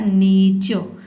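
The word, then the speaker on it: nature: और यू आर ई का हो जाएगा और, ये हो जाएगा आपका नेचो, ठीक है। आधा र नहीं बोलना है, नेचो, नीचो, च के बाद यहाँ पे अ का साउंड आपको दे देना है, नीचो, ठीक है।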